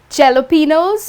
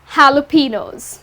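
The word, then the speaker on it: jalapeños: Many people end up pronouncing it as jalapenos or jalapenos, but the correct pronunciation is jalapenos.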